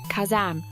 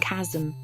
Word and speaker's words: Kazam: Actually, that's probably how you say it. Kazam, not kasm.